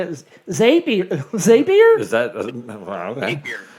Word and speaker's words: Zapier: Yeah, the way I It's Zapier, by the way. is that- What's that? The way I remember that it's Zapier, not Zapier, is it rhymes with happier.